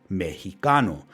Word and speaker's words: Mexico: This pronunciation mesho eventually changed to the one we are all familiar with today, Mexico. This happened when the Spanish language underwent a change called a consonant shift and the sh sound